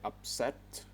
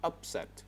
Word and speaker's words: upset: the word upset right stress is on the second sound we say upset not upset you said upset all right